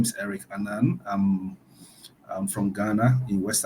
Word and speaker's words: Annan: In your last name, how do you pronounce it? Annan? Annan.